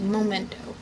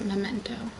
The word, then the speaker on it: memento: i never seem to memento is one of those words where it's like i didn't know it was like spelled and pronounced like that because i always thought it was momento momento momento not memento what are these graphics